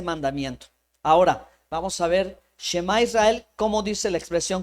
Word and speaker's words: shemá: la garganta Okay ahora la primera palabra shemá como sh sí puede pronunciar así como o puede ser un respiro hacia hacia dentro la los el idioma